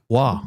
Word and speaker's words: Roy: It's Wah.